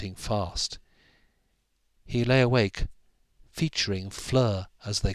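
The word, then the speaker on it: Fleur: in the sharpening light Flur it rhyme with her and she lived at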